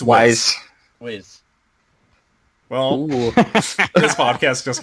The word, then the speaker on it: W'z: it Wiz or Wise? It's Wise.